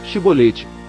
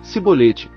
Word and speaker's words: Shibolete: Então lhe diziam, dize, pois, Shibolete, porém ele dizia, Sibolete, porque não o podia pronunciar bem.